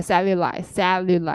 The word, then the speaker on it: cellulite: L이 두 개여서 약간 셀류 이렇게 나요. 셀룰라이트. 선생님 발음 어떡하죠? 셀을 세게 하시면 돼요. 셀룰라이트. 예. 류 상관없어요. 근데 이제 셀을 세게 해야 발음이 셀룰라이트 이렇게 되죠.